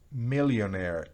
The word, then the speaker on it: millionaire: Otras palabras, millionaire, millionaire, millionaire, millionaire. Fíjense que el acento está en la última sílaba, millionaire.